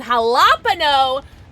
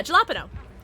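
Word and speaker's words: jalapeño: I like to pronounce the J. Yeah, jalapeno.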